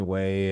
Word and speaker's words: Wai: People call me way. Yeah, I I I guess I I kind of accept both pronunciations as well.